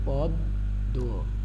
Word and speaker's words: পদ্ম: এই মটা আমরা যখন পদ্ম উচ্চারণ করি তখন কিন্তু পদ্ম বলি না। কি বলি না? পদ্ম বলি না, পদ্ম বলি। তার মানে কি দাঁড়ালো? যে এখানে নাসিক্য বর্ণটি উচ্চারিত হচ্ছে না।